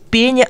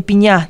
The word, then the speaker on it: пеня: На самом деле катарсис, ударение это из древнегреческого. Катарсис, а не катарсис, пеня, а не пеня, талика, а не толика, мизерный, а вовсе не мизерный.